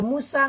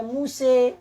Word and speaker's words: Musa: Kalau Musa nggak boleh dibaca Muse.